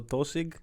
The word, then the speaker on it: Tosaigh: So Tosig it's literally, it's spelled it like that. It means to just start. Yeah, Tosaigh is how you spell it in Irish. You took out the H. Yeah, yeah, and the A.